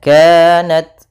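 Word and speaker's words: كانت: Kaf langsung Inka Inka kemudian kanat pada lafal Ka ada Mad thii yaitu fathah bertemu Alif kemudian Nat yaitu adanya ta sukun maka harus ada hamasnya kanat kemudian tapi sedikit saja jangan banyak jangan kanat ya enggak tapi dia kanat sedikit kemudian illa kembali lagi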